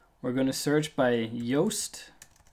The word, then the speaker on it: Yoast: We're going to search by Yoast. It's spelled like toast, only with a Y at the beginning.